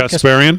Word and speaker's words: Kasparian: How do you pronounce her last name? Kasparian. Kasparian.